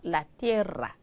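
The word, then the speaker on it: la tierra: 자 아로 끝나니까 여성이고 이의 발음 주의하셔야 띠라 그죠 라띠에라 그다음에 우나 로사 이로사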